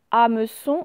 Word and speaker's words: hameçon: Le mot hameçon, alors hameçon, hein, je ne sais pas si vous vous rappelez tout à l'heure, il y a un H muet.